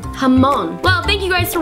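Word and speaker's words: jamón: that this entire time I thought jamone was jamone but it's actually hamon hamon well thank you guys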